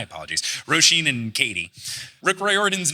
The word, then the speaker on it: Riordan: do know this so the actual Irish traditional pronunciation is that like is that one what Reardon Reardon yeah but he says it Riordan and he's admitted that his family pronounces it wrong like I found quotes